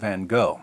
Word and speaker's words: Van Gogh: sanity of Dutch painter Vincent vano or van or van H or van depending on where you're from and how far you want to deviate from the authentic American pronunciation according to Mclean van